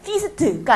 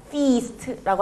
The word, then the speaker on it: feast: 그래서 이 부분이 이중 모음이라서 조금 깁니다. feast가 아니고요. feast라고 하시면 됩니다.